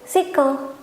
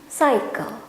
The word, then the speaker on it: cycle: terus kita lihat ku berarti ini kita baca sebagai single enggak ternyata ini bacanya cycle siklus Hai terus kita